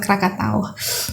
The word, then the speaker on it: Krakatau: literally be blowing up like Krakatoa, I think, how you pronounce it in English, right? Yeah, but in Indonesia we pronounce it Krakatau.